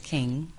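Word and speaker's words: Qing: The youngest one is King. It's spelled with a Q, Q-I-N-G.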